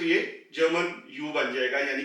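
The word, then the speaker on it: über: उ है वो हम लेंगे तो यह जर्मन य बन जाएगा यानी कि उ और इससे अल्फाज बनते हैं उ उ यानी के क्लॉक घड़ी इसी तरीके से यूब य यहां पर आवाज फ्लैट हो जाएगी क्योंकि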